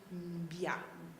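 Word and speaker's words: Mbyá: O terceiro subgrupo vive no Brasil e no Paraguai, é formado pelos Biá, se pronuncia assim, não é?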